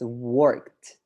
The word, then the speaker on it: worked: very good nice pronunciation just remember when we have the words that end in ed most of the time they sound like a t or the right so this is not working this is pronounced as worked worked finished all right so